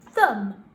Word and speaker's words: thumb: You might decide that actually you want to do a sentence with a different word that has the silent B in, like thumb or numb.